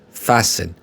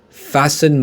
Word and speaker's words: fasten: a seat belt but fasten the t is not pronounced is not pronounced so we say fasten fasten my seat belt a